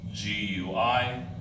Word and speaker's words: Guinea: And then the bend here where Africa bends, this area is called the Gulf of Guinea. G-U-I-N-E-A, pronounced Guinea.